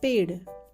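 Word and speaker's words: पेड़: It's the retroflex sound, that is, the rolled tongue touches the roof of your mouth while pronouncing. It's not d, it's d. So we pronounce this word as paid.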